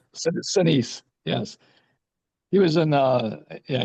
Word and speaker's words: Sinise: How do you say his name? Shanice. Sinise. Shanice.